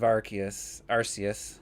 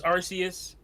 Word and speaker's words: Arceus: I want to hear Terrell's thoughts, because I watched 5 different reviews of Arceus Legends, whatever you want to call it, Pokemon. And well, it's every word in the title versus Arceus.